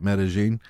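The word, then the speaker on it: Medellín: Colombia and you know it's spelled metal in meta-gene those are how they say it meta-gene and I was asking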